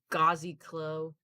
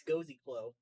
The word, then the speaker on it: Cozy Glow: a bit here guys how did you pronounce that name gazi Khloe I think it's cozy glow cozy glow okay whatever who cares it looks like cozy glow but with the first letters switched around yeah I could ask